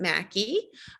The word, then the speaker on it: Mackey: a special guest mackey um who rhymes with tacky she told me so that's how i'm remembering the way she spelled her name um ann is an alloy co-founder and mackey is an alloy medical